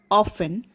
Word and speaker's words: often: which are not pronounced like in the first word often t is not pronounced so here t is the silent consonant of the word question number 15 here